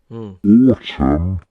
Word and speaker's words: autumn: So in the case of autumn, autumn. Good timing, tree. So in the case of the word autumn, we drop that ungainly N. Yet with autumnal, both letters get their time to shine.